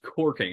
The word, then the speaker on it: caulking: Yeah, it's spelled caulking, but it's pronounced corking.